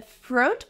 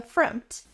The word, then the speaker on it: front: pronounced FR or front the word is pronounced front the O makes a different sound here it makes the short uh sound like cup and up uhuh it's a relaxed close sound uhuh FR front and